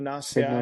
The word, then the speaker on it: Bignoniaceae: I'll try to pronounce this. So it's Bignoniaceae. Big Yeah, no Nacier. Big no Bignoniaceae.